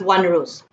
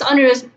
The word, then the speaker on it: onerous: So, this is not pronounced as onerous. It is onerous in that the partners are burdened.